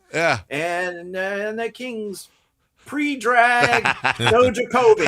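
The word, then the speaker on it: Stojaković: That shows you, that was well before I started looking into drafts and stuff like that and learned that the J is not pronounced that way in European countries, right?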